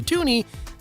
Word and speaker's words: toonie: loon bird on it while the toonie while it rhymes with Looney as the movie is